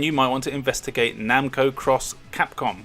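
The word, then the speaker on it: Namco × Capcom: might want to investigate Namco cross Capcom which apparently is how you pronounce it a really cool RPG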